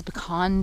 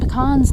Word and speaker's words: pecan: I want to tell you all, the proper pronunciation is pecan, okay? Don't be given none of that pecan stuff.